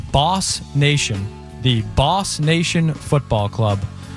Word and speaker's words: BOS Nation: BOS Nation will be pronounced Boss Nation, the Boss Nation Football Club.